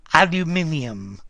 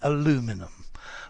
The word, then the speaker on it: aluminium: Aluminium, Boyka, but the Americans say aluminum.